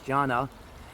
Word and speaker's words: Jaana: I thought it was Joanna, but it's Jaana.